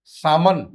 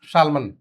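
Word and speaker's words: salmon: not chalk पाम हथेलीम सामन शामन ठीक है that is सामन नॉट शालमन torque walk yoke that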